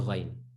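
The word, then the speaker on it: غ: And that's the ghain, right? It has to be at the back, in your mouth, deep in. That's the ghain.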